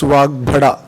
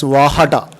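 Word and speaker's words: Vagbhata: Usually we don't pronounce Vagbhada. The Ashtavaidya tradition, they pronounce it as Vahada, following the Jain tradition, Vahada. So they don't use the Guru Aksharas, Vagbhada, that is a Guru Akshara in Sanskrit because of the Sandhi.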